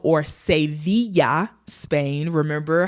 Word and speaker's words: Sevilla: So we lived in Seville or Sevilla, Spain. Remember how we are doing pronunciations, English and Spanish.